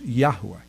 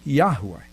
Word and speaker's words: Yahweh: But the correct pronunciation, the one that they're most familiar with, is Yahweh.